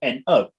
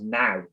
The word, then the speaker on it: know: Yeah, but it's got a K at the start. But if you take the K off, it actually says now. So what? Why is this word spelled like this? It makes no sense. Why are silent letters a thing? I don't know. But I don't get it. Why is K-N-O-W now? No, and not canal.